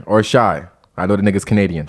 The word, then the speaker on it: Shai: Or Shai. I know the nigga's Canadian. Shay. Right? Shay.